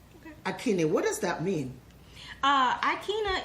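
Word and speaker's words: Aikyna: So she named me Akina, which is A-I. The A is silent, so it's Akina.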